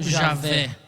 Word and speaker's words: Javé: Geralmente a gente fala com o W com som de V, né, no português. Então nós vamos chamar de Iavé ou Javé, né?